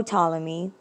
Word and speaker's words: Ptolemy: um said no ptolemy remember that ptolemy starts with a p a silent p no ptolemy earth is not the